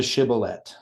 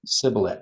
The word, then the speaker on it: shibboleth: So they can't pronounce the shibboleth, right? They can Okay. only sibboleth. So it's close to the message, but it's short by a dot of the shin, right?